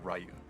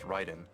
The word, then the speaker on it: Raiden: listen to an example I don't think anybody would think of pronouncing r yu as they would always say rayu because that's the way it would be pronounced you know one that's a big problem it's actually writen uhhuh cuz you know in middle gear from the very beginning there's voice acting so they know it's Ryden.